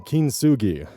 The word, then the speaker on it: kintsugi: Even processes like kintsugi, I believe that's how it's pronounced, where you use gold to repair broken pottery, still leaves the final result visibly altered.